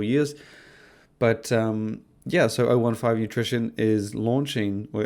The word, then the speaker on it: O15 Nutrition: It's intended to be pronounced O15 Nutrition, even though it's written as the letter O, the numbers 15, and you may just think 15.